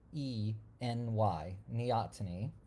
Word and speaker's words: neoteny: up an article that defines that really nicely it's spelled n e o t neotiny and um it's something we see in humans